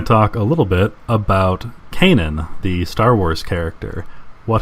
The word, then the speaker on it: Kanan: of your blanket warning so it's Kanan not not Kanaan I wasn't really sure